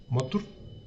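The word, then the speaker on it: Mothur: Que suena como madre, pero con U, Motur. Que generar estos modelos no es necesario porque Motur es muchísimo más robusto. ¿Cuál es el problema con Motur?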